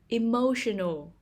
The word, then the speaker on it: emotional: the second syllable compulsory emotional emotional the stress is on the second syllable emotional melodic melodic the stress